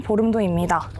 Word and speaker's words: 볼음도: 이것은 인천시 강화군 서도면에 위치한 보름도입니다. 이름이 조금 어렵게 들리실 수도 있는데요. 보름달 할 때 그 보름에서 유래한 이름이라고 합니다. 본래 만월도를 불리다가 보름과 발음이 같은 보름도로 이름이 바뀌었다고 하네요.